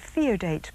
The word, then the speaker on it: Theodate: favorite personalities on board I've always pronounced it theodate po that's right and I believe that